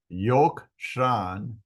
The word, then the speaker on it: Yokshan: She bore him Zimran, Yokshan, Medan, Midian, Ishbak, and Shua. Yokshan, which we had here, Yokshan begot Sheva.